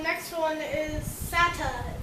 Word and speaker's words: SATA: of transferring data and it's actually not pronounced um s-a-t-a it's actually pronounced Santa or Serial ATA next one is SSD